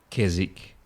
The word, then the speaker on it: Keswick: Australian pronunciation of savik Keswick uh Greenwich a couple of those towns where you've got the WIC and you don't pronounce the W no I I think